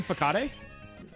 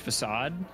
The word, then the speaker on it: facade: this are auno is bad Oh you mean fade okay so well into adolescence I did not know it was pronounced facade um and I pronounced it fade for a